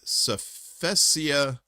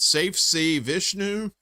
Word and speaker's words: Safe Sea Vishnu: the Marshall Islands flagged Safesia, I'm so stupid. Safe Sea Vishnu? Safesia. I put the wrong emphasis on the wrong syllable.